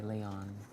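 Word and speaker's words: Léon: It's a ballad, though, and it's gorge, and it's called No Goodbyes by Leon. By who? Leon. Leon or Leon? It's Leon, but there's an accent on the E like Leon.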